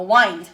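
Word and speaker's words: wind: 와인드가 뭡니까? 와인드 와인드라고 읽어야 돼.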